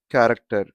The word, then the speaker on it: character: For example, character, chapter, achieve. So here chapter has a sound of ch and achieve also has a sound of ch. But here, character, c.